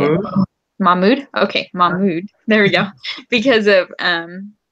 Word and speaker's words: Mahmoud: Okay, Mahmoud.